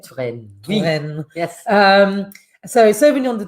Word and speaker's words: Touraine: Have I pronounced that correctly? Touraine.